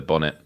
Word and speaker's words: bonnet: yeah yeah yeah yeah we call it the Bonnet but we we obviously we don't pronounce the tea because we're British but um yeah so